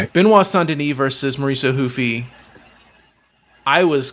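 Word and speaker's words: Benoît Saint-Denis: a star, you got Benois Sandeni or Benoy St. Dennis as people that don't know how to pronounce French names would say, going against Mauricio Ruffy as us Americans would say, Mauricio Hufi, right?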